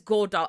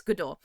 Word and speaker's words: Godot: I know it looks like it says Go Dot and I was pronouncing it Go Dot for a while, but it's not. It's GDO.